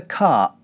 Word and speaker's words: cart: The reason for this is that cart ends with a t consonant. Whenever the t consonant comes at the end of a syllable, we squeeze our glottis closed in this way.